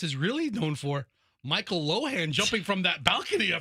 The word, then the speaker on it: Lohan: no I'm I'm correcting loen e patches I'm correcting myself cuz I I originally said Lindsay Lohan but I think it's loen so Lindsay Len's Father